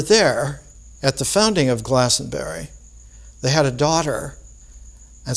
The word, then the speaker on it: Glastonbury: So that all of the resurrection vibration was taken from Jerusalem to that site that became Glastonbury, or Glastonbury. You shouldn't pronounce the T in English.